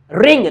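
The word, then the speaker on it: wring: अगर डब्ल्यू के बाद आर आता है तो डब्ल्यू हमेशा इंग्लिश में साइलेंट होता है। For example रॉन्ग डब्ल्यू आर ओ एन जी रॉन्ग है ना रिस्ट रिंग निचोड़ना।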